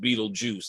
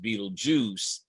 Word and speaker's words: Betelgeuse: It looks like Betelgeuse, but it is pronounced Beetlejuice, I'm told. But, well, YouTube tells us, as YouTube tells us, that it is still pronounced Beetlejuice.